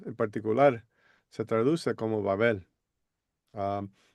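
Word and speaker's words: בבל: si nosotros queremos pronunciar esa palabra hebrea, se pronuncia como Babel.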